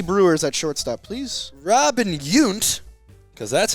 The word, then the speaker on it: Yount: Robin Yount because that's how it's pronounced, is the number 1 Milwaukee Brewer.